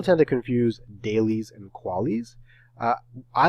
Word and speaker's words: QALY: We talked about QALYs or CALYs or CALYs, depending upon how you pronounce them.